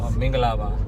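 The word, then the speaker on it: မင်္ဂလာပါ: Mingalaba. Mingalaba.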